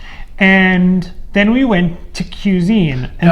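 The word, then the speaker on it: Qsine: then we went to cuisine and the name of this you say i want to just make sure people know it's spelled q s-i-n-e so already pretentious right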